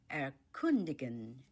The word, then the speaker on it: erkundigen: Explore in German erkundigen, erkundigen, erkundigen, erkundigen. The stress is on the second syllable, kun, erkundigen. Let's explore the city.